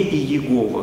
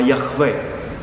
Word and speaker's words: Яхве: Правда, на еврейском языке это звучит не Иегова, как они произносят, а Яхве. Но вот они говорят, что они свидетели Иеговы.